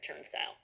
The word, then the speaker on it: turnstile: Magic E jumps over one consonant, makes this vowel shout out its name, saying I. So we know that TURN is going to say turn, and the second syllable is going to say style. Put it together, turnstile.